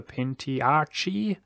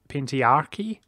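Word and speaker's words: Pentarchy: Our mission is to restore the Pentiarchy. Apparently that's how you say it. Or Pentiarchy. Still confused on that one.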